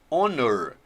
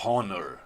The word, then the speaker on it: honor: Honor, você não pronuncia o H. Você fala honor, você fala honor.